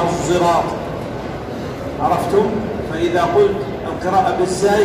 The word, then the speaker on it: الصراط: بالزاي، وإنما يقول القراء إنما هي قراءة بالصاد بإشمامها زايا، بإشمامها زايا، فتنطق اهدنا الصراط.